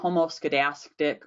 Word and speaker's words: homoscedasticity: described them as either homoscedasticity Rose could asked it meaning just if there homoscedasticity is just another fun word for spread it sounds remember it rhymes with elastic which also I mean